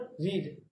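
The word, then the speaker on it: read: There is another word, रीड. यहाँ पर आपको एक चीज याद रखनी है, इसके तीनों फॉर्म तो एक जैसी होती है, लेकिन pronunciation is totally different. रीड, रेड, रेड.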